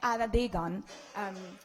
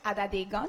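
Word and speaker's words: Atateken: Alors, en Kanien'kehá:ka, les T se prononcent en D et les K se prononcent en G. Donc, on prononcerait Adedegen. Je le répète, Adedegen.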